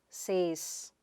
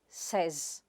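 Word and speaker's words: says: The next word is /sez/ and not say-s. Itís sez. You may say, I say, you say, but he or she /sez/. It ends with the sound z and not s.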